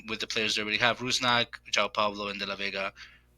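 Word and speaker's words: Rusnák: right um and they still have ra uh rasak rusak sorry mispronounced there um they still have him and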